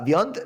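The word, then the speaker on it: viande: you know what the word beyond means beyond spell it v-i-a-n-d-e nope uh vyond means meat in french like that you would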